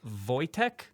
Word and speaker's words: Wojtek: He's going to talk to us about a hero named Corporal Wojtek. That's how you pronounce it.